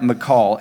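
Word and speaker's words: machal: the word weaker is and i hope i'm saying it right mccall m-a-c-h-a-l it carries the idea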